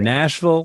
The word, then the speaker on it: Nashville: And by the way, those of you that are not from the South, any city that ends in Ville, that's pronounced Vul. You could be in Nashville, Louisville.